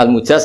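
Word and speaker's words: المجاز: Saya tidak perlu nulis sanad lagi, karena sanad itu untuk al-mujaz, bacanya al-mujaz karena dari fi'il madhi ajazah.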